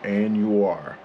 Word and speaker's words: Anuar: So, Anuar. There you go. Okay, now I gotta go. GoPro, stop recording. GoPro, stop recording. Anuar.